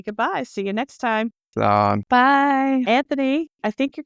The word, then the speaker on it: Slán: Slán is just bye. It's Irish. Okay. But it's spell it for everybody. SLA fada N, but you don't say fada. It's just an accent mark.